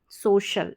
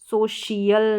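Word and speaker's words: social: हो गया सो शल सोशल इसको सोशल प्रोनाउंस करेंगे सोशियल नहीं करेंगे सोशल हो गया फिर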